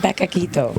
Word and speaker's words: Beccaquitto: it beito beito beito it's a combination of Becca and Kito so beito but is it any